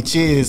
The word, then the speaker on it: Chiz: My last name Chisholm. So everybody just called me Chiz.